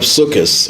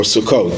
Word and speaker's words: Sukkot: unity pronounced, extremely emphasized, it's the holiday of Sukkot or Sukkot, depending on how you want to pronounce it, the Ashkenazic or Sephardic way.